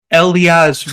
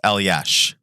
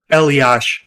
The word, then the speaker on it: Elias: uh let's announce that elias rose did i pronounce it right chewie uh so yeah my son's name is pronounced el yash so eliash yeah elias rose i